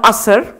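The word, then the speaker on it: ASER: this this big survey which is called a sir you were quite right the the the pronounciations is fine means in English it stands for annual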